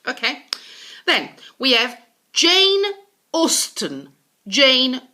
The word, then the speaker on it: Austen: Okay, then we have Jane Austen. Jane Austen, not Austen or Austin. Austen.